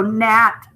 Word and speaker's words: gnat: just like the same we're not going to say digraph gn we're going to say ghost letter digraph g in and then here's that little buzzy gnat so nat um this one ghost